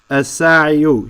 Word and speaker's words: الساعي: This ya here prevents the dhamma from showing up. As-sa'iyu, he's the fa'il, but this ya prevents it, right, due to the difficulty of pronouncing it. As-sa'iyu, as-sa'iyu. It's just hard to say. Say sa'iyu. It's hard. So they just stop and say as-sa'i.